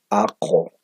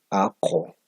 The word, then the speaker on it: aqu: Como ustedes pueden ver, pronuncio esta U como si fuera O.